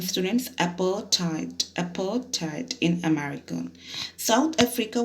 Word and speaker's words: apartheid: in the story let's understand apartheid it's a pronunciation students appertite apartheid in america south africa was earlier governed